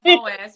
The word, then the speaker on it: Boaz: pronounced the man's name right. Yeah, Boaz.